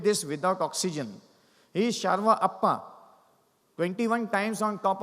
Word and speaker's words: Sherpa: So it is Sharva. It is not pronounced as Sherpa. Sharva, people of the East.